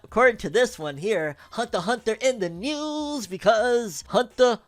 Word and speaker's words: Hunter x Hunter: when it comes to Hunter x Hunter fandom. If it's with an H and an X that is silent and another H, we'll take it, because we ain't getting squat, fam.